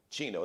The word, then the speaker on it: Geno: daily variety show yes that is that's me chino that's how you spell sometimes people want to spell it with a that's it g-e-n-o the gino uh daily variety show we do the